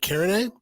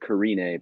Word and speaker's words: Carinae: our guest today calvin parent of the band karen am i saying karen a right uh well we've always pronounced it carine but okay pardon me we that's quite all